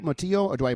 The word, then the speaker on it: Mottillo: Motilio or do I pronounce the L? Matillo. How do I say that? Motillo.